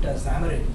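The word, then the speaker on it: Xamarin: build apps I mean check out Zarin which is spelled with an X so x a m a r i n which is a crossplatform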